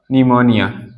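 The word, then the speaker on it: pneumonia: number two कहता है यदि एन और एस से पहले एस से पहले प आता है प आता है तब प साइलेंट होता है त प कैसा होगा तप साइलेंट होता है तब भाई प जो होगा हमारा व कैसा होगा साइलेंट होगा चलिए इसके एग्जांपल समझते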